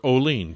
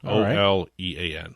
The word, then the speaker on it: Olean: New York uh or oline depending on how you want to pronounce it to looking at the spelling is it only it's olian okay it's only an o-l-e-a-n yeah Olean I remember I had